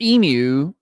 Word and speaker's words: emu: So it's pronounced emu in Australia, and a lot of standard pronunciations. Another pronunciation used commonly in the United States is emu. So you can do either or.